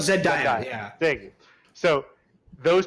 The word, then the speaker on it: Zendaya: pronounce it. Zendaya. It's something like that. Yeah, I apologize. Zendaya. That's Oh, right. Zendaya.